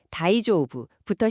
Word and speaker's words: 大丈夫: 자, 그럼 오늘의 핵심 표현 다이조오브부터 시작해 볼까요?